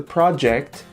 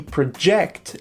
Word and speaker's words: project: and a verb okay the project the stress is on the first syllable and project the verb it's on the second syllable okay so after reviewing